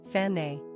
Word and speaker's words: Fannie: Pronunciation, Fanny.